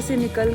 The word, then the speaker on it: Sani: सो हम अपने home stay से निकल कर सेनी लेक आए हैं। इसको प्रोनाउंस ऐसे करते हैं सेनी लेक एंड सेनी विलेज।